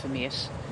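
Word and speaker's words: Vermeersch: It's now Lucas Eriksson at the front, followed by the Danish champion Skelmose, almost back to Florian Vermeers. The CH is silent. It's not pronounced, it's just Vermeers.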